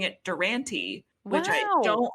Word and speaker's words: Durante: world i'm an independent per adult now it's durante right wow that's so cool that you decided